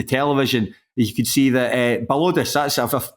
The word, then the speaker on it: Balodis: I haven't even pronounced that correctly. It's not Baldois, is it?